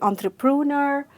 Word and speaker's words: entrepreneur: People say entrepreneur or entrepreneur. It is simple. You just have to pronounce it as entrepreneur, a person who manages and runs a business.